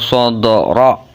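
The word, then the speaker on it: صدر: Alam nasrah laka sadra. Ronya dibaca tafhim, tebel, bukan ra ya. Ronya dibaca tebal, namanya tafhim, dan diikuti huruf kaf, yaitu kafnya mati sebab matinya karena wakof.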